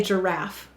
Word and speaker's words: giraffe: at the zoo giraffe go ahead and say giraffe how many syllables two we will say to spell jur